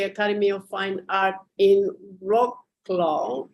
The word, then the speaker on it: Wrocław: So Thomas graduated in 1998 from the Academy of Fine Art in Wrocław. I for sure did not pronounce it well, Poland. That's how we pronounce in English, Wrocław.